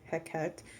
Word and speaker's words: Hecate: god or goddess yes Hecate or heck act however you pronounce it but I say Hecate yep she is amazing